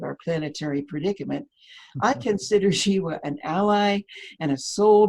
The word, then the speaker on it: Zhiwa: He is Zhiwa Woodbury, and the first name is spelled Z-H-I-W-A, pronounced Zhiwa Woodbury, and he's an earth